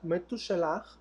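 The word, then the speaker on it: מתושלח: su nombre ya vimos matusalén es como lo conocemos en español en europa pero se pronuncia me tutelar y aquí ya vimos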